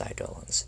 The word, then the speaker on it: Eidolons: wondering if it's pronounced eidelons or Eidolons it's pronounced Eidolons do not worry I did some research on